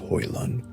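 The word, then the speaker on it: Hoelun: Yesugei had, in fact, earned his own power by seizing Temujin's mother, Hoilun, pronounced Hoilun, from a rival tribe,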